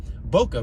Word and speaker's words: boca: Boca, B-O-C-A. Boca, pronounced boca, in Espanol is mouth.